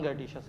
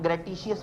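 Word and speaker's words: gratuitous: अजीब सा लफ्ज़ है, इसकी अमेरिकन और ब्रिटिश दोनों प्रोनाउंसमेंट्स अलग हैं, और हमें से क्या लेना देना, हमने कौन सा किसी को पढ़ के सुनाना है, हम जो मर्जी से कहते हैं, हम ग्रेटिशियस कह देते हैं। ग्रेटूशियस अमेरिकन वो है, ग्रेटिशियस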